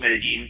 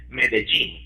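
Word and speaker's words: Medellín: It's called Medellin, but some of the local folk would pronounce it Medellin, like the word "gene" there.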